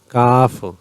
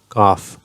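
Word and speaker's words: ک: Qaf, Kaf, lightly spoken at the tip of the tongue. Kaf.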